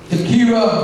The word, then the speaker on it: Takira: It is my pleasure to introduce Kelly Baskin, essayist Takira, 11th grader from Plainfield East High School in Plainfield. Congratulations. Come on up. Good evening. First of all, I'd like to say, pronounce my name Takira.